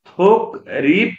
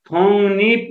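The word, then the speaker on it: 독립: तर लगत्तै र ठोक्किन आएमा ग को उच्चारण न र को उच्चारण न गरिन्छ। जस्तै फोगी हेर्नु त, यहाँ त थोक रिप नभएर अब यहाँ के हुने भयो त थोङ निप हुने भयो।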